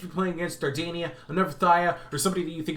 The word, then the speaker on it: Phthia: And I am pronouncing that correctly. If you didn't know, that is how you pronounce Phthia. Phthia.